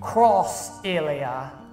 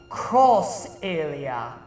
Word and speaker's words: Xillia: North America next week cross a Lea excuse me waist side cross area like the X is pronounced cross how else are you